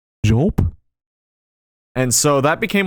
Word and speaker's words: Jolp: It is pronounced Jolp. It's not Jolop, or any other weird, funky way you can come up with.